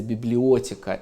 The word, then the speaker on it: библиотека: Она называется библиотека. Это По-петербургски. По-петербургски, да. Старинное ударение, принятое в XVIII веке.